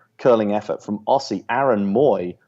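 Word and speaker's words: Mooy: a 50th minute curling effort from Aussie Aaron Moy spell mu but pronounced Moy the difference for David Wagner's men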